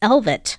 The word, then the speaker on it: Elvet: I keep wanting to think I'm saying it wrong, but I'm Elvis saying it Mormon? right. No, it's Elvet Mormon.